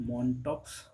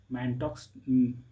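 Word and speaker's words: Mantoux: मॉनटॉक्स मेंटॉक्स मेंटोक्स ऐसे पढ़ेंगे लेकिन इसको प्रोनाउंस किया जाता है मेंटो।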